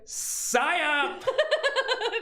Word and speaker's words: psyop: Psyop.